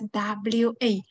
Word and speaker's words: は: However, in the sentence, because this one will be used as a particle, so we pronounce it as wa, wa, nani nani wa, nani nani desu, all right?